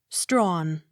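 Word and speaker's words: Strachan: m o u r seemer accent on first syllable s t r a c h a n strawn t a d e m a tatamar accent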